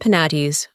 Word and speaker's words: Penates: It is to be observed that in proper names the final E and Es are to be sounded. Thus, Cybele and Penates are words of 3 syllables, but Proserpine and Thebes are exceptions, and to be pronounced as English words.